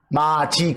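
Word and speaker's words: 맏이: 아들이나 제일 큰 딸을 발음은 뭐라고 해요 마지 그렇죠 마치 마지 그러면 마지 그러면 아들 딸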